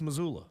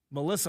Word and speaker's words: Missoula: she was a lot better than I thought pronounced Missoula Missoula Montana Melissa Montana Hannah Montana actually her and I both